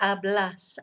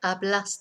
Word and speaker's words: hablas: so present sense blah hablas habla hablamos applies a blonde remember we don't pronounce the H ever I have a little